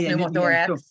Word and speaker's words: pneumothorax: Yes, pneumothorax.